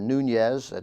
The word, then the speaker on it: Nunes: Representative Devin Nunes, or Nunez, that's spelled N-U-N-E-S, a Republican of California.